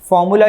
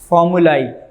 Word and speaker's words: formulae: ये बोली थी फार्मूलाई, फार्मूलाई नहीं है, फार्मूली है बेटा, सुनो उसको पढ़ना कैसे है, फार्मूली। तो फार्मूला की प्लूरल क्या होता है, फार्मूली, स्पेलिंग वही है AE, लेकिन पढ़ना है इसको फार्मूली, फार्मूलाई नहीं पढ़ना, फार्मूली, ठीक है।